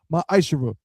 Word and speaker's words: ma'ashara: Means 10th in Hebrew, and it's pronounced ma'ashara.